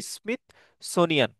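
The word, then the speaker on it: Smithsonian: একটা হচ্ছে gold standard, একটা হচ্ছে বেটেন উডস এগ্রিমেন্ট, আর একটা হচ্ছে স্মিথ সোনিয়ান, প্রোনাউন্সিয়েশন হচ্ছে স্মিথ সোনিয়ান এগ্রিমেন্ট।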